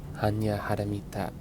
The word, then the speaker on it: Hanya Haramita: For example, the opening line, Hanya Haramita, is the Sinitic Japonic pronunciation of Prajnaparamita, meaning the perfection of wisdom.